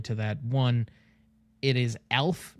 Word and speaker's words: ALF: Additionally to that one, it is ALF, not ELF as far as like any younger viewers, in case you couldn't hear the the subtle pronunciation difference.